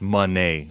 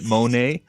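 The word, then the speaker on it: Moné: not saying Monae is everything no it's actually pronounced Monee it's just that idiots like what's his name Ian Rabani and Kevin Kelly that hermaphrodite pronounced it Monae and every other commentator decided to call it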